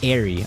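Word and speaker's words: Eyre: I don't know what Jane Ireie is fortunately. is I'm guessing that's another classical book pronounced airy.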